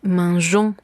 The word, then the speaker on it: mangeons: Si queremos conservar esta sonoridad, vamos a tener que hacer uso de la G. Entonces, verbos que terminen en G-E-R, je-er, vamos a hacer este cambio en la persona nous. Vamos a dejar la E y posteriormente agregaremos la terminación O-N-S, de manera que nos quede el sonido jon.